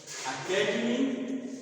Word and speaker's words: academy: So on the first, it is stress on the second syllable, and here this is stress on the third syllable, and it is on fourth syllable. So academy, academic, academician.